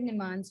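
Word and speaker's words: Neemans: I said Nimans, you said Nemans. What did you say? I think it's Nemans only. I think it's Yeah, pronounced Nemans.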